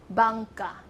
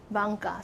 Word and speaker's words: Bangka: The Taiwanese name from Wanhua, if you say, I'm going to Wanhua, but if I say in Taiwanese, Wanhua will be Bangka. Bangka, so different.